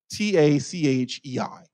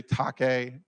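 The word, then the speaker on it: τάχει: It's tachei, T-A-C-H-E-I, tachei. Some people may say take, tiche, tache is how I pronounce it.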